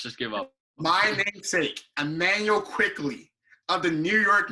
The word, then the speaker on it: Immanuel: And Immanuel, not Emmanuel.